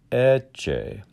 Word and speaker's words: Ecce: these syllables first line etche so the first vowel is what we call open and the second one is called close the two e's are not the same once more i'll